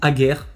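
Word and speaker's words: Hager: viennent en tête Schneeder le grand Ager qui s'écrit Ager H A G E R après toutes leur gamme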